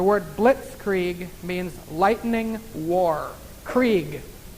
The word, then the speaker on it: Krieg: blitzkrieg means lightning war Krieg means war actually pronounced creek ends with a Jesus